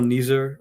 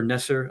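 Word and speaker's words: Neser: in, Dogget came in to bowl and Michael Ner or Nesser, I don't know how to pronounce Ner.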